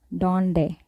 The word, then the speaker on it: donde: or then or breathe so one way to pronounce diazine enter when used in the start of a word or a syllable for example donde donde which means where and we can also